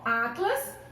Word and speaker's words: atlas: Atlas é uma palavra paroxítono, um substantivo paroxítono, terminado em S. Não é isso? Então, ó, Atlas, sílaba mais forte.